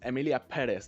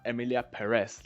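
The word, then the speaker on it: Emilia Pérez: guess most of you would have assumed is Emilia Perez and it's pronounced Emilia pz not Emilia Perez like a lot of yall are saying for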